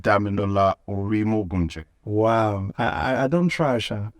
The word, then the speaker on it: Dami Orimogunje: That's the correct When I pronounced Dami Orimogunje.